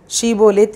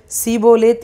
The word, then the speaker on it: ஷீபோலேத்: நீ ஷீபோலேத் என்று சொல் என்பார்கள். அப்பொழுது அவன் அப்படி உச்சரிக்க கூடாமல் சீபோலேத் என்பான்.